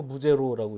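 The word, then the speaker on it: Bouguereau: 윌리엄 아돌프 부제로, 윌리엄 아돌프 부제로라고 읽어야겠죠.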